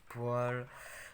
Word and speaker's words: poêle: veut une poêle même ça s'écrit peau est long mais ça se dit poile du coup on va